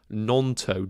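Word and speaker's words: Gnonto: So it's actually Nonto, G is silent.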